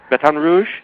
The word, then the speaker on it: Baton Rouge: all that I know you are you're in Baton Rouge did I pronounce that right yeah Baton Rouge batan Rouge that's how they say it batan Rouge batan